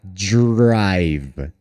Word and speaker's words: drive: Olha só, quando nós temos um e só no fim da palavra, geralmente esse e é mágico, ele some. Por isso a pronúncia acaba no V, tá? Drive.